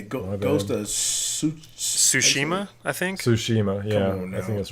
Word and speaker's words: Tsushima: do you say goes does Tsushima I think Tsushima yeah that's right you don't play so Shima